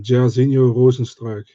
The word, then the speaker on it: Jairzinho Rozenstruik: Um, you want the pronunciation, Jairzinho Rozenstruik.